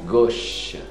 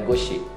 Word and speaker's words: gauche: A gush. Gush, a U com O. É um som de O quase. Gush. Não é goshi.